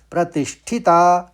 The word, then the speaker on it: प्रतिष्ठिता: और आखिरी शब्द है प्रतिष्ठिता। प्रतिश, शौ कर लेंगे, पहले शौ आएगा फिर ठिता, प्रतिष्ठिता।